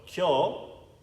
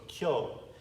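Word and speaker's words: 今日: So, kyo, atsui. When you see a line over a vowel, you just extend it a little bit. All right? So, kyo.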